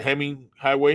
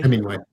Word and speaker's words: Hemingway: I might the name on it, is the Heming Highway. Hemingway.